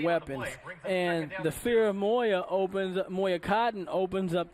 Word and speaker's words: Moya: Moya m-o-y-a-dash cotton c-o-t-t-o-n so it's a Moya is what you're hearing us pronounce 853 remaining in this